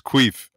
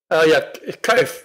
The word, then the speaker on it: Kuif: You tell another great story, and I know I butchered the name Frangie, but this one is Queef. Kuif, we call her.